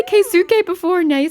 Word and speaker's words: Keisuke: Keisuke? I know it's spelt that way, but you do know that you kind of skip the U in a lot of cases in Japanese. It's Keisuke.